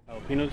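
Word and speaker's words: jalapeño: Jalapenos, you mean? Yeah, jalapenos. I think the proper way to pronounce it is jalapeno.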